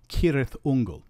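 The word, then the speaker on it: Cirth: one the letter C the letter c is always pronounced c as if it were written with a K it's not pronounced s or CH in any Elish words and so we have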